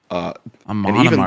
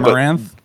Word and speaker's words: Amon Amarth: Amon Amarth, that's how you say it. I think I've been saying that band name wrong the whole time. I think I call it don't know if I'm right, Amaranth.